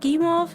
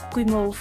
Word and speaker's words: Guimauve: That's what Gimov means? Am I pronouncing that right?